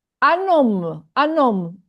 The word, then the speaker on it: homme: Un homme. Un homme. Un homme. H is an H muet, aspiré. It's not pronounced as H.